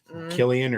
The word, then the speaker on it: Cillian: an awesome and and sometimes they pronounce his name different than that but Killian or yeah we always called it silly I always call him sillian but I'm sure well